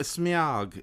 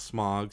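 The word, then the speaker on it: Smaug: No, Smog. You're supposed to say it like that, not Smog. Smog. Like it's you're like meow, like meow, but with an S and a G at the front.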